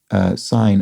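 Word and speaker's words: syne: explaining, as a Scot, I'd really prefer you to not pronounce sign, S-Y-N-E, with what I was doing, with a Z sound at the beginning, but rather with an S as in sound, not a Z as in zoo.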